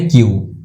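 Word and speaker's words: queue: अच्छा बाय द वे ये क्यू यू नहीं है, ये यू साइलेंट है, इसका प्रोनाउंसिएशन है क्यू, तो क्यू भी सही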